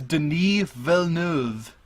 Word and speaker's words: Denis Villeneuve: him by his first name because I can't pronounce his last name, the director for Blade Runner. It's Denis Villeneuve.